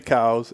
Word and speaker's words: Coues: patently false it's supposed yeah supposed to be cows and you can pronounce it any way you want well there